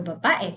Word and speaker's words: babae: How many syllables are there in the word babae? What is syllable? Pantig. Two? Three. E. Three. Yes, 3.